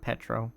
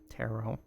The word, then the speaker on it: Taro: Project Taro. Not Petro. Taro. Wrong silent letter.